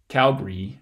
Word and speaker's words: Calgary: who are from Calgary actually say it Calgary with two syllables and that schwa gets eliminated altogether but that's even just